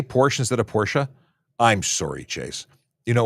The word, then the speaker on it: Porsche: uh Chase Cry by saying Porsche sorry portions instead of Porsche it is Porsche oh well and I